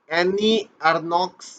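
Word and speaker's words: Annie Ernaux: ठीक है, तो अगर 2022 के साहित्य के नोबेल पुरस्कार की बात करते हैं तो एनी अर्नॉक्स का ही, या एनी अर्नो भी प्रोनाउंसिएशन होता है, उच्चारण होता है।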